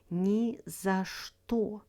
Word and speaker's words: ни за что: First up, «ни за что», pronounced «ни за что» with the stress on «что».